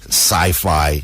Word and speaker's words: CYFI: And sci-fi is spelled CYFI.